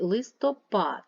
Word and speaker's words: листопад: третій стовпчик так далі листопад рахуємо голосні 1 2 3 третій стовпчик предмет 1 2 другий